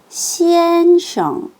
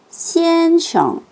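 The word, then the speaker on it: 先生: 자, 앞에는 일성, 뒤에는 경성으로 발음할게요. 시엔숑, 시엔숑.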